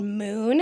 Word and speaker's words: Mxxn: a product that's called moon it's spelled mxxn but it's pronounced Moon yeah um and what's